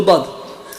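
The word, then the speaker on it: ض: Et si vous écoutez comment ils disent le dad, ça ressemble au dha.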